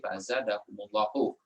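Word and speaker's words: فزادهم الله: Harusnya fazadahum, tapi karena mau disambung, kalau di sini barisnya mati, di sini barisnya mati lagi, dibacanya susah ya. Maka bacanya humnya dihidupkan jadi fazadahumullahu.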